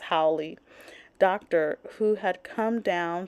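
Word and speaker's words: haole: Who had come down howy sorry I'm reading it and but in my mind I know it's pronounced howy Doctor Who had come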